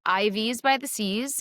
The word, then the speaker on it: IVs by the Seas: So Ivy's by the seas is one, it rhymes. Two, it's catchy.